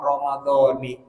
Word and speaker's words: Ramadhani: Yuqra'u Ramadan bil kasrah. Ramadan dibacanya pakai kasrah, Ramadhani.